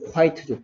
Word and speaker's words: quiet: 여기는 I가 I 소리 내고 끝에 오는 E가 소리가 나지 않는 quiet죠. quiet.